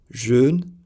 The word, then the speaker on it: jeûne: French has vowels e and e that do not exist in English. These words sound as jeune, jeune.